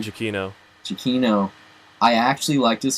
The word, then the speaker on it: Giacchino: Michael, how do you pronounce his name? Giacchino.